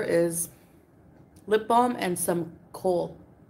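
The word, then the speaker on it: kohl: of French food yeah she said coal it's um it's spelled like this k o h l and it's um it's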